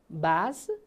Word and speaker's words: बाँस: हेर्नुहोस् त ल यहाँ बाँस बाँस, भने भने, भाडा भाँडा, गाउ गाउ। हेर्नुहोस् त यहाँ कुनै कुनैमा चन्द्रबिन्दु छ, कुनैमा छैन, अनि उच्चारण गर्दा पनि यो चन्द्रबिन्दु प्रयोग भएको चाहिँ अलि नाके ध्वनि आउँछ होइन, नाकबाट उच्चारण भए